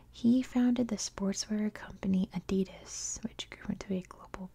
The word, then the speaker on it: Adidas: founded the sportsware company Adidas which gr to a global business Empire that is how we pronounce it in the United States I know that's not